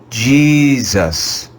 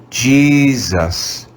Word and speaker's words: Jesus: Let's read this word together using the schwa sound. Jesus, Jesus, Jesus.